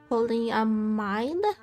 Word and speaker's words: polyamide: Polyamide, like mine but with a D.